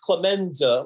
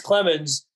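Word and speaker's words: Clemence: um zach clements yeah i want it to be pronounced clemenza like in goodfellas but uh it's clemens man four minutes knocks down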